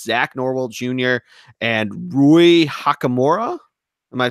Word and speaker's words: Hachimura: and Rui Hakamura. Am I pronouncing that right? I think you are. Rui Hakamura.